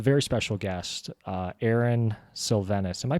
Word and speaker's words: Silvenis: joined by a very special guest uh Aaron sylvenus am I pronouncing that correctly you are and most people